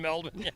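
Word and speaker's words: Melbourne: you should do that PK confirms that my pronunciation of melbour is correct melbour it's down there for four weeks nobody ever pronounced in melin of course maybe I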